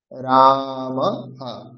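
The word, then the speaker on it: রামঃ: ধরুন রাম শব্দের পরে বিসর্গ আছে। তাহলে উচ্চারণ হবে রামা। রামা রামা হা এখানে রাম বলবো না অথবা তাড়াতাড়ি উচ্চারণ করবো না। যেহেতু র এর পরে আছে আ মানে দীর্ঘ। তাহলে উচ্চারণটা করতে হবে দীর্ঘ। রাম রাম। তারপরে বিসর্গ আছে তাহলে হ উচ্চারণ করতে হবে। রামহ রামহ রামহ।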